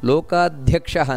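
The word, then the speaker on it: ಲೋಕಾಧ್ಯಕ್ಷಃ: ಉಚ್ಚಾರಣೆ ಏನು ಮಾಡಬೇಕು ಅದಕ್ಕೆ ಲೋಕಾಧ್ಯಕ್ಷಹ ನೋಡಿ ಧ್ಯಾ ಅನ್ನುವಂತದ್ದು ಮಹಾಪ್ರಾಣ ಅದನ್ನ ನೆನಪಿಟ್ಟುಕೊಳ್ಳಬೇಕು ಲೋಕಾಧ್ಯಕ್ಷಹ ಅದನ್ನೇ ಲೋಕಾಧ್ಯಕ್ಷ ಸುರಾಧ್ಯಕ್ಷೋ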